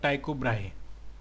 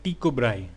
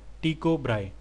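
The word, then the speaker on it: Tycho Brahe: है वह आता है टाइको ब्राहे ठीक है इसको अगर हम दानिश में प्रोनाउंस करेंगे तो ये है टी को ब्राई ठीक है टी को ब्राई ठीक है वो कब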